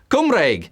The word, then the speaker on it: Cymraeg: Cymraeg. What is it? Hungarian, Welsh, Macedonian? It would be Welsh. That is how you say Welsh in Welsh. Cymraeg.